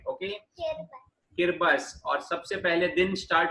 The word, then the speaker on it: Kiribati: Okay, no, Kiribati is not the right way to pronounce it. Kiribati. No, इस country का right pronunciation है किरिबस.